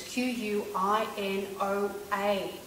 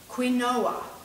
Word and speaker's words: quinoa: you now quinoa you might have seen it's qu i n o a which is quoa but it's actually pronounced quinoa and it's an ancient seed now